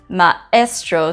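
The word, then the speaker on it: ma'estro: for Teacher which is Maestro if you can hear it's Maestro so there's a stop in between the A and the E A this makes the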